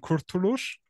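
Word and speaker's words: Kurtuluş: du ihn perfekt ausgesprochen kurtulusch also sogar mit dem S hinten ist eigentlich ein Strich drunter sieht man nur nicht ist mir zu aufwendig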